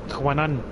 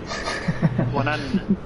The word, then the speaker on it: Juanan: It's not difficult to say my name. Say my name. Juanan. Juanan. Sounds like Kanan Banan. Juanan.